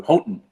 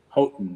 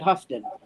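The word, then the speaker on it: Houghton: but it's pronounced like most Michigan people do hoton um but anyway spell it spell that please h o u g h t o n hoton Michigan okay so some people would pronounce it hufton but you're say yeah if you weren't if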